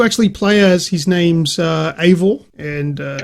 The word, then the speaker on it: Eivor: So pronounced Eivor is who you play as.